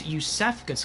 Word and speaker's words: Iosefka: And it's Yusefka's clinic. That's how it's pronounced, not Iosefka.